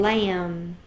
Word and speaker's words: lamb: And here's the MB, like in thumb and lamb. Okay, MB, the B is silent, only the M says its sound.